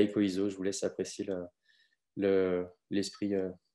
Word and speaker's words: EcoISO: La prononciation recommandée pour ce modèle, c'est écho, comme un écho, et ISO.